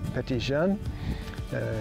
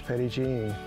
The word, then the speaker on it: Petit Jean: They pronounced it Petit Jean. In Arkansas, it's come to be known as Petit Jean.